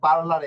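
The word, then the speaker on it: parlare: দেখি হ্যাঁ এই যে দেখুন এখানে এই যে পার্লারের শব্দটা নিচ্ছি ঠিক আছে পার্লারের শব্দটা নিয়ে যদি উচ্চারণ করি এই যে দেখুন পি আ পা এরপরে কি রে হ্যাঁ পার এরপরে হচ্ছে এল এ আরে এ পার্লারে এখন কথা হচ্ছে পি আ পা ঠিক আছে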